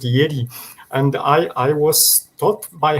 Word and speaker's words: Jedi: He spoke with very nice pronunciation, because she spoke the Jedi Knights, which was in Poland, J is just Yi, so she Yeah. just pronounced it Jedi.